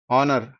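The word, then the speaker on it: honour: ఏంటి like for example కొన్ని words like அவர் ఆ హానెస్ట్ హానర్ వెహికల్ వెమెంట్ ఈ అన్నిట్లో కామన్ ఏందంటే హెచ్ is silent H is silent so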